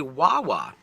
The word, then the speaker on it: Wawa: say wah wah right if you put any consonant in front of AWA you're gonna get a sound that rhymes with tawa not not tawa not